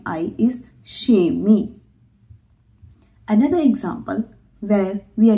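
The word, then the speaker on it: kemi: Because it's a soft vowel and when we are using soft vowel with k then it sounds like sha.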